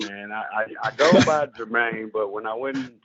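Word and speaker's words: Jermine: yeah she said spelled your mind but I pronounce it Jermaine okay right all right sir all right Mr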